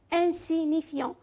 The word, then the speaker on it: insignifiant: insignifiant. هنا عندكم G ne prononce pas. le G c'est écrit et ne prononce pas لا تلفظ.